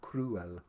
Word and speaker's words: crewel: motifs, and it was called cruel, spelt with a Crewel, not cruel as in cruel. It's called cruel.